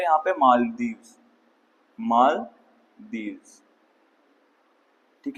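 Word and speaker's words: Malé: Indian tourism है व country है यहां पर मालदीव मालदीव ठीक है बेटा इसकी कैपिटल है माले ठीक है spelling M ए एल ई माले कौन सी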